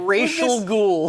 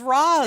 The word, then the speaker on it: Ra's al Ghul: And I like how at one point the Turtles are like, Racial Ghoul. Who's this Racial Ghoul? But this is amazing because that's the actual correct pronunciation.